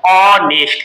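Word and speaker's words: honest: पर हम देखेंगे ऑनेस्ट जो इसको नेस्ट नहीं पढ़ते हैं क्या पढ़ते हैं ऑनेस्ट क्लियर ओ तो यहां पर पहला जो इसका साउंड है वो है ओ ऑनेस्ट एच इ साइलेंट एच साइलेंट है क्लियर तो यहां पर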